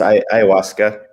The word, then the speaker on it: ayahuasca: I'm always paranoid that I say that wrong because it's spelled completely different to how you say it. Yeah, it's ayahuasca. Ayahuasca.